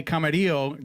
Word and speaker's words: Camarilo: We are here with Eli Camarillo.